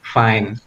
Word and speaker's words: fine: eh give to you Fine itu ada yang bacanya pinnya itu berarti pronounciationnya salah so you have to say fine dan ada solusinya ternyata